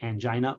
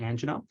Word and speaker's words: angina: It's pronounced either angina or angina.